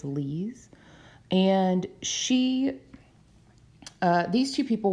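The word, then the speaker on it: Lise: is Lee's mightner and some people pronounce that as Lisa um but from what I saw I think it's Lee's and she these two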